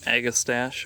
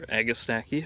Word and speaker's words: Agastache: Leaves are mostly gone at this point, but this is um I believe agistache or agistaki, however you want to pronounce it.